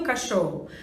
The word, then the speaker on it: cachorro: como que eu pronuncio cachorro ao falar cá eu tenho a o som dos e eduardo o ch eu tenho um som só que seria um som de x o o os dois